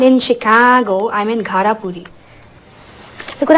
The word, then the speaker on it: Chicago: When you make the ah sound, sort of hold your nose to flatten the vowel, like Chicago. Chicago.